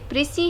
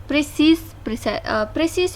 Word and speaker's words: précis: अच्छा जी, ये जो एस है लास्ट में यानी ये प्रीसी है, लेकिन जब हम एस लिखेंगे तो इसका मतलब ये है कि ये क्या है, एक प्लूरल वर्ड्स के लिए हम यूज़ करते हैं, प्लूरल्स के लिए यूज़ करते हैं। ये प्रोनाउंस होते हैं प्लूरल्स के लिए। अगर ये प्लूरल्स है तो इसके लिए हम प्रीसीज प्रोनाउंस करेंगे, जबकि अगर ये सिंगुलर है तो प्रीसी है।